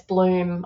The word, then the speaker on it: Blum: And I know Rick Blum, I think it's Rick Blum pronounced, or Mick Bloom, maybe in Europe it's Bloom. Yeah, we say Blum here, but it's Bloom over there, but it's BLUM.